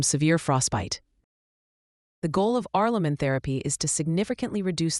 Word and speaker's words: Aurlumyn: Arleamin, pronounced heirlamin, is the brand name for isoprost injection.